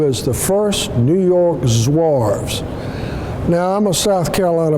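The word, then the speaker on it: Zouaves: a South Carolina boy I don't speak French and there are other pronunciations for that but for purposes of us today they are called the New York zarves now they were held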